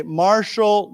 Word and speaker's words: martial: Remember this word here is pronounced with a shh sound sh. So let's say martial law.